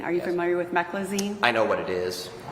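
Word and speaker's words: meclizine: Are you familiar familiar with a drug um I'm not going to pronounce this correctly. M E C L I Z I N E Meccloine. Meccloine. Are you familiar with Mecklazine?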